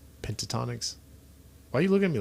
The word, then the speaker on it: Pentatonix: Bring on Mariah Carey and Pentatonix and Michael Bublé. Pentatonics. I forgot about them. Don't you dare. Is it Pentatonics or Pentonics? Pentatonix.